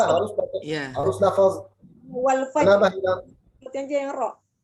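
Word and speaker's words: والفجر: Tapi di waqaf ra wal fajr jadinya tebal, tafkhim.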